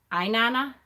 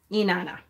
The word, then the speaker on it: Inanna: Inanna?